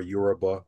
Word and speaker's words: Yoruba: Yeah, it could be pronounced Yoruba or Yoruba. Both is correct.